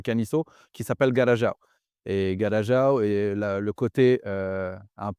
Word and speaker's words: Garajau: Et pourquoi on prononce ça Garajau au lieu de Garago ? vu que ça se termine par AU, est-ce que tu pourrais nous expliquer ?